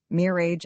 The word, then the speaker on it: mirage: Mir age and marage. M I R A G- is pronounced mirage, said Valency shotly, picking up her tea and her beans.